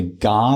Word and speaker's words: Ga: I mean, even if you think about because it it's the GA language. Is that how you pronounce it?